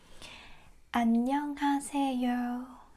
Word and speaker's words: 안녕하세요: It's 5 syllables word. Okay, let's break it down. Just so you know, the first letter an. And this one can be a little bit more complicated. It goes 냥, 냥, 냥.